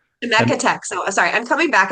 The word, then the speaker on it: Chemeketa: Yeah, so I coordinated with Kelsey from remind me how the name is pronounced, Bruce. Chemeketa. Chemeketa.